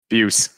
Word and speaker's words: Beus: do you pronounce Beus Beus as easy as you think about it like abuse take the aisle abuse that felt like an